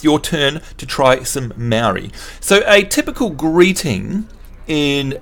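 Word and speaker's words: Māori: not that which is m-a-o-r-i is Maori and the easiest way to get people to sort of get anywhere near that is to for them to say moldy so it's actually called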